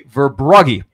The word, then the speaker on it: Verbrugge: It's actually Verbrugge, like rug.